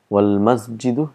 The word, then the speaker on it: وَالْمَسْجِدُ: Wal-masjidu, if you see here, just hamzatul wasal.